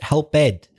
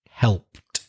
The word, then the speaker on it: helped: I think you said helped, but the E is silent, like most ED words in English. Not all, but the majority. The E is silent. Washed, kissed, etc. And helped.